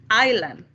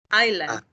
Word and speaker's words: island: everywhere yeah iceland okay here we don't have to pronounce the s island island island island perfect no